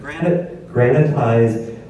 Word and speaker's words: granitize: And granitize rhymes with sanitize, and I think you can connect those dots.